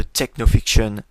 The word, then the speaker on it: TechnoFiction: Alors avant de démarrer ce premier épisode de Technofiction, oui, je prononce à l'anglaise, je tiens à rappeler